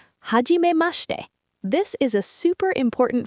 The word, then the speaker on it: はじめまして: Now, let's talk about the other phrase Hiro said, はじめまして.